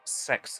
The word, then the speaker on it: CeX: I purchased this particular card from a physical sex store. That's how it's pronounced.